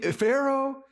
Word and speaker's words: Pharaoh: maybe somebody with a name that starts with a P but it sounds like an f and it and it and it rhymes with uh Maro or Taro uh maybe Pharaoh nothing like that and